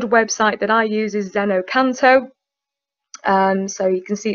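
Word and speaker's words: xeno-canto: So a good website that I use is Zenocanto. So you can see it's spelled at the top there, Xeno-CANT.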